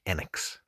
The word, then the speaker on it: Enix: but in Japan in Japanese uh the correct pronunciation is actually enex so at the moment I would say the